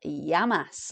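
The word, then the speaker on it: γεια μας: say cheers in Greek that is yamas or if you've said yasu but yamas is really cheers to us or health to us yasu being health or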